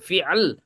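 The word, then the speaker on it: فعل: Repot nyebut fi'al repot, fi'il biar gampang ya. Kalau orang Arab gampang buat mereka bilang fi'al, hada fi'al wa hada ism gitu. Ini isim, ini fi'il. Kalau orang Indonesia hada fi'il, hada isim gitu biar gampang ya. Biar gampang pelafalannya aja.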